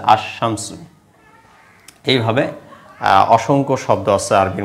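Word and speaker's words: الشمس: শামসিয়া যার জন্য লামের উচ্চারণটা হয় নাই এটাকে উচ্চারণ হচ্ছে আশামসু এইভাবে অসংখ্য শব্দ আছে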